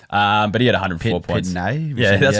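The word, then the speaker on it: Pittonet: So they called him Pitten Yet. So I'm not sure if he's changed the way he wants his name pronounced, or we've been saying it wrong the whole time, or who knows.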